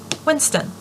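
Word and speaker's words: w1n5t0n: Pronounced Winston. Not pronounced W1E5T0N. Unless you're a clueless disciplinary officer who's far enough behind the curve that you still call the internet the information superhighway.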